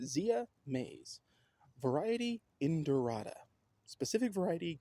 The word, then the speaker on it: Zea: Now, the name Zea is from ancient Greek, and I think that's pronounced. It's the word ancient Greek word is Zeai.